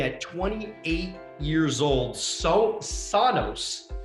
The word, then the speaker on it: Sonos: 28 years old so sonos i hope i'm saying that right sonas yes sona stoner sonus and he